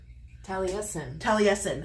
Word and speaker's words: Taliesin: Taliesin? Taliesin. Frank Lloyd Wright. Yes, the Taliesin Murders.